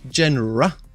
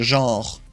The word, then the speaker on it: genre: Yeah, but is it said genre in English? In French, you'd say genre, which is written the exact same way, but just not pronounced the same way. Genre. Okay. John or Jen? I'm getting confused.